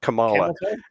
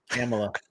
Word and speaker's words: Kamala: oh wait I'm sorry did I accidentally pronounce her name how she wants it to be pronounced Kamala the the Kamala song yeah camela it's camela camel to I think what